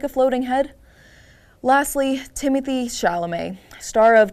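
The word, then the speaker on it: Timothée: pretentious it is that you spell Timothy in the French form but you insist on it being pronounced like the English name safely DQ but moving on Timothy your tux how do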